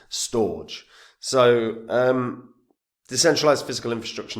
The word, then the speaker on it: Storj: storage they want it to be pronounced storage but I will never do that storge so um decentralized physical